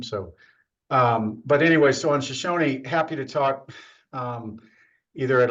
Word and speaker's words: Shoshone: The tribe calls it Shoshone. It was named after an Indian tribe. So I don't mean to disrespect the way people have pronounced it, but we are doing our best to pronounce it the way the tribe itself pronounces it.